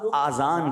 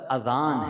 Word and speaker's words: اذان: بعض لوگ آذان کہتے ہیں، یاد رہے پہلے اذان کہتے کس طرح ہے، اس کا تلفظ سے بچ لیں. آذان اذن کی جمع ہے، اذن کہتے کان کو، یہ آذان نہیں ہے، یہ لفظ اذان ہے، ٹھیک ہے.